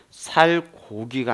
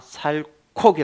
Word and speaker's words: 살코기: 입니까 살 곡 입니까 이것 역시도 히어 종성 체어 4 그 역할 때문에 살 고기가 아니라 살코기 라 그렇죠 살코기 요런 것들